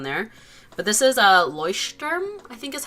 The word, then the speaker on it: Leuchtturm: But this is a Leuchtturm, I think is how you pronounce it. Some people pronounce it like Lecturm or something, but I think it's pronounced Leuchtturm.